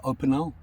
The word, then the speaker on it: Opinel: i've heard a lot about these is the opinel it's at the correct pronunciation the opinel knife and a lot of